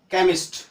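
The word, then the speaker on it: chemist: लेकिन सी के बाद एच आ रहा है तो उसका उच्चारण कौ भी होता है। जैसे देखिए ये अपवाद है, एक्सेप्शन जिनको आप कहते हैं। केमिस्ट सी एच है, यहाँ पे केमिस्ट है। कोरस सी एच है, कोरस है, कैरेक्टर है, यहाँ पे उसका उच्चारण क्या हो रहा है कौ हो रहा है।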